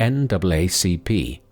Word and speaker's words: NAACP: such as Walter White, chairman of the NAACP (pronounced: “N double A C P”), the National Association for the Advancement of Colored People, and Mary McLeod Bethune, the prominent educator and activist.